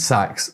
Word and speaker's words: Sachs: And Sachs sounds like the word for fires.